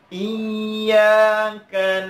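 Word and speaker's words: إِيَّاكَ: Iyyaka ya, di sini ada syiddah, di huruf iya ada syiddah. Maka harus kita tekan bacanya.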